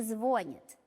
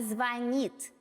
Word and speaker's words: звонит: Кто красиво говорит, тот не звонит, а звонит. Звонит звонарь, звонят в звонок, чтоб ты запомнить верно смог.